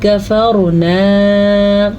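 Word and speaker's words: كفرنا: دون اللہ کفرنا، را کو پر پڑھنا ہے، را ساکن سے پہلے زبر ہے تو اس لیے را پر پڑھی جائے گی.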